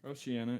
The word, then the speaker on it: Oceania: Oceania, yeah.